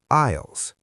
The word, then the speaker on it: aisle: These sections are often called aisles. A i s l e, but we say a isisle. The s is silent.